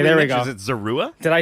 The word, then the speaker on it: Zorua: And if my digging is correct, it's a Hisuian Zorua? Yes. Is that pronounced correctly? Okay, there we go. Is it Zorua? Did I say that right? That's how I pronounce it. Zora?